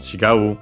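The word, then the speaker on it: 違う: chai which comes from the verb uh chigu an accented uh means to differ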